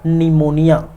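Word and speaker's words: pneumonia: पर सातवें नंबर पर निमोनिया ठीक है क्या निमोनिया या जिसे कहा जाता है इंग्लिश में कहा जाता है निमोनिया ठीक है निमोनिया पी जो है साइलेंट रहता है याद रखिए ठीक है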